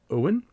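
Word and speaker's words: Eoghan: hello houston from ireland owen is how you pronounce my name it's spelled e-o-g-h-a-n uh sounds like old gaelic huh um i said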